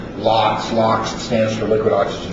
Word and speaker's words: LOX: Liquid oxygen systems, also abbreviated capital LOX or pronounced LOX.